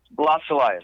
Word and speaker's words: Blas Elias: Blas Elias, yeah.